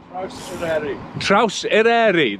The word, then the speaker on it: Traws Eryri: actually actually you'll know Phil how should I pronounce it trous TR trous ereri there we go thanks pH and yeah so